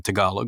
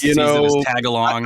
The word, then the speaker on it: Tagalog: pronounce it too Tagalog I know everybody says tagalong I blame Girl Scout cookies yeah I'm like oh